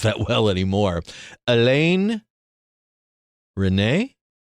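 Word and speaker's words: Resnais: Alain René? Yeah, the S is silent.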